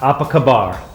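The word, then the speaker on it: Apa khabar: apaba Malaysia that is two thumbs up uh apak kabar Malaysia that is spot on now the second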